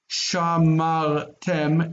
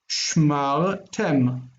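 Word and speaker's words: שְׁמַרְתֶּם: It yanks the accent, and then suddenly it's not shamar tem, it's tem on the end.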